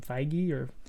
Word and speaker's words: Feige: Feige, yeah.